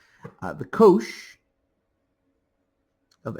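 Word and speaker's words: cosh: It's often abbreviated as kosh coh stands for hyperbolic.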